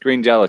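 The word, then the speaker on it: Green Jellÿ: But it's pronounced Green Jello still. It's only spelled differently.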